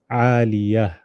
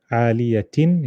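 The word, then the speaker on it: عالية: So instead of aliyatin, we stop aliyah. So can you see how this is a ha and this is a ta? Very simple. Two dots, read it as ta, aliyatin, you have to read it. And no dots, you read it as a ha, aliyah.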